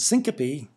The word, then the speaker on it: syncope: a parasympathetic nerve and syncope is a three syllable word that means fainting vasovagal